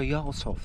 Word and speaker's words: Jarlshof: Um, so Yov, that's how it's pronounced.